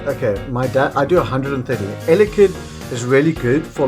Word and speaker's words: Elekid: And we play cards like two Cyruses and Elekid, that's how you say it, to kind of control their deck around, you know.